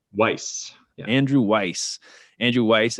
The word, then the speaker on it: Weiss: Weiss.